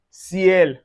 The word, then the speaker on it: ciel: Anywhere you see Y plus voyelle in one syllabic word. For instance, you can see it in "ciel".